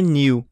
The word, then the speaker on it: new: Que essa palavra não é new. É new. New. Como se fosse um N-U mais puxado.